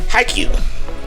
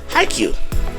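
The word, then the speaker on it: Haikyu: It is HiQ. It's spelled H A I K Y U. HiQ.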